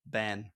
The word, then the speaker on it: ben: And in Frisian, the word for child is still ben. It's pronounced exactly the same.